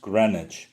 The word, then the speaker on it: Greenwich: In Greenwich, England, the name is pronounced Greenwich.